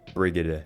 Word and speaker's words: Brigitte: My bad, I mispronounced her name. Brigitte. Now Brigitte falls into the same boat as Ana.